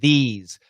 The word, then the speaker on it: these: This is a short I vowel, and this is a long E vowel. And this has an S sound, and these has a Z sound.